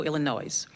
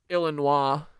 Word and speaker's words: Illinois: The suspect has been tentatively identified as 30-year-old Elias Rodriguez of Chicago, Illinois. Our MPD case detectives, I do like that disrespect of mispronouncing Illano. Yeah, it is Illinois.